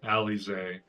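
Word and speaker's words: Alisaie: Alise, okay, I've been saying it wrong.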